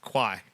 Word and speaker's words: Kawhi: Kwai.